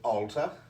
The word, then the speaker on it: Allta: you'd read that uh i pronounce that as alta any other words you